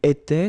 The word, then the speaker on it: étais: J'étais, so final S not pronounced. Tu étais, same form.